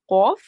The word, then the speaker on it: qaf: So there are similar sounding letter. One is kaf, which is a thin pronouncing letter, kaf. So when you open your mouth, kaf. And the second one is qaf. So that's where you round your mouth. So qaf. So qa, not ka.